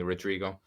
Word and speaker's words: Rodrigo: I'm Rodrigo, which is harder to pronounce. I'm A little bit. they. I mean, English people tend to like not be able to say the the R, but Yeah. you can call me Rodrigo.